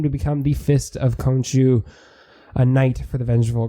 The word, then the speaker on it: Khonshu: I looked up how to pronounce it. So I'm good now. Khonshu.